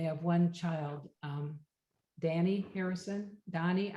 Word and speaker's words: Dhani: And then George married Olivia in 1978, and they have one child, Danny Harrison, Donnie, I'm not sure how you say it. It's Dhani, and he's a musician too.